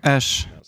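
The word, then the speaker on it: Æ: как буква и и потом произносится как Эш в имени произносится как Эш как Эш кечу и если вы не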